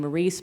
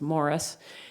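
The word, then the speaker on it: Morrice: issues of displacement because we pronounce his name Maurice because he comes from Quebec but actually his name was Morris his father David Morris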